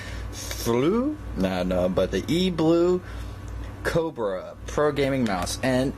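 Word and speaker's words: E-3lue: E well I guess you pronounce it blue even though it's a stylus B it's actually 3 l e FL no no but the E blue Cobra Pro gaming mouse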